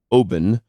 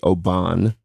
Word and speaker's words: Oban: couple years ago I was at what is pronounced Obin which we would say Oban the scotch I was just sitting out looking